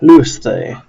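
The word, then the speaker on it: λύεσθε: So pronouncing this would be lu, s, the, Louis the.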